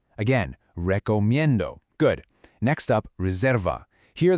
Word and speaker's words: recomiendo: First, recomiendo. The stress is on that min sound. Say it with me, recomiendo. Again, recomiendo.